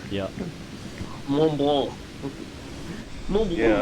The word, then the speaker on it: Mont Blanc: Mont Blanc, yeah. Mont Blanc. Mont Blanc. Yeah, I think the C at the end of Mont Blanc, you don't pronounce, I think.